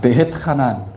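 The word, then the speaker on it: ואתחנן: 주간은 토라 포션이 아, 베트카난 베트카난 한번 따라해 봅시다. 베헤트 카난 베트카난 베트하 베트하 예, 어떤 분들은 하난이라고도 하지만은 하난이라고도 발음을 합니다.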